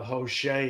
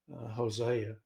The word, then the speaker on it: Hosea: here to Hosea uh Jose is what some people pronounce it but it's actually Hosea and you can see